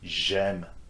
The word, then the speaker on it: j'aime: Same will go for j'aime, j'étudie, for these two verbs that start with vowels, okay, A and E.